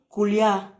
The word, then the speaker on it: Koulia: Alors, c'est Koulia. Koulia. Oui. Ok. N. Attendez 2 minutes, Oui. je prends un stylo. Mhm. Donnez-moi 2 minutes, je prends le stylo. D'accord. Alors, Ok, merci. Koulia.